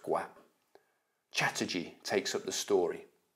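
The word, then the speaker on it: Gaupp: as well as Captain Guam gu a PP I think that's pronounced Guam Chatterjee takes up the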